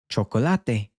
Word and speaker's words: chocolate: The word for chocolate is chocolate. So it has the same spelling as in English. We're changing our pronunciation when saying it in Spanish.